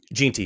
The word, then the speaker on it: Jeanty: Jeanty, yeah.